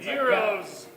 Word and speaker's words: gyros: a a Greek place at Gyros if you've pronounced that correctly zeros yeah well hero still